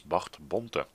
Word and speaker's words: Bart Bonte: close by, and his name should actually be pronounced as Bart Bonte.